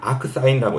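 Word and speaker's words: arcsin: 걸 역 함수라고 하는데 읽을 때는 요거를 뭐라고 읽냐 그은 요거를 크라고 읽어야 그래서 아크 크라고 읽어요 그래 가지고 요거는 어떻게 읽어 냐면 아크 사인이라고 읽어야 되거든요 아무튼 그런 식으로 역함수가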